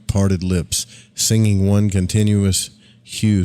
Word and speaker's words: HU: with instructions on chanting the Hue pronounced like the name Hugh this was described as